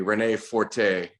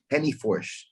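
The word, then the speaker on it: Renê Forte: So you fight, well, in English, it'd be Rene Forte. In Portuguese, I'm not even going to try to pronounce it. And one more time. Henny Forsh.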